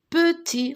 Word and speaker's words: petit: Et ici, nous avons P-E, petit. Regardez ce bébé, il est petit. Petit. P-E, peu. T-I-T. Attention, cette lettre, on ne la prononce pas.